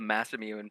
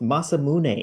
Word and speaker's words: Masamune: original imagery of just like he left the mass imune like this huge sword oh whoa whoa whoa